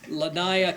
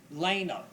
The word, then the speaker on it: Lanaya: And from Clearwater Little League, we have Lanaya. It's pronounced Lena.